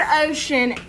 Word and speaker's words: ocean: In the word ocean, CE sounds like sh.